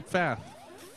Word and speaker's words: Pfaff: Pfaff. Pfaff. What's your preferred pronunciation? It's actually. The first F is silent.